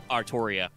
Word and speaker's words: Artoria: are that way the the way Japanese works the l r sound are the same so you can write it both ways but it's pronounced in English it sounds like artoria and as I've said